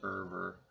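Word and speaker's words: Euwe: for um Max server so many people say his name wrong it looks like it's yui or OU or something like that but it's a Dutch name and it is irer which rhymes with fervor Dr Max erver attacks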